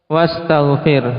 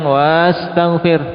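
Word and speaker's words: وَاسْتَغْفِرْ: Ketika ada wawu bacanya gimana? Langsung wastaghfir. Hamzahnya kemana? Hamzahnya tidak dibaca, ya kan? Hamzahnya ketika membaca tidak dibaca, dijatuhkan. Tidak kita baca panjang wastaghfir, tidak.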